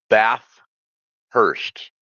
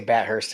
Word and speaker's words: Bathurst: Somebody keep telling me uh one of my listeners say I don't say it right. It's Bath Hurst. I'm pretty sure I say Bhurst as well, but it is a Bathurst.